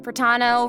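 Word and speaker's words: Protano: And hosting with me today, we have Hey everyone, I'm Cat Pratano, rhymes with Capitano, the voice of child's master Skirk.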